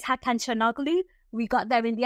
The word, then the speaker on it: Hakan Çalhanoğlu: They have got the best players, and it's Hakan Çalhanoğlu. We got there in the end. That's how you pronounce his name.